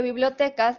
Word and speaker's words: bibliotecas: entonces quedamos en que bibliotecas es una palabra grave porque su sílaba tónica es t imaginen que la sílaba tónica de bibliotecas es B Cómo la pronunciaría sería bibliotecas bibliotecas suena rarísimo vamos a poner la